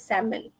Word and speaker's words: salmon: should let that um the correct pronunciation is silent L is salmon okay so it's difficult